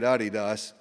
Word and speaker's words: Adidas: you say it I didn't um they say Adidas um I always called it Adidas but I'm from Northeast Arkansas so what do